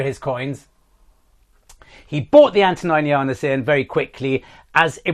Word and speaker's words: Antoninianus: me, quite rightly so, it's not an Antoninus, that type of coin I was talking about. It's an Antoninianus. It's spelled slightly different. Antoninus is the name. The coin is Antoninianus.